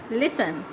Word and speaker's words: listen: Listen, listen, इसमें T silent है, ठीक है, टी को नहीं पढ़ा जाता। ये क्या वर्ड है? लिसन, listen, लिसन।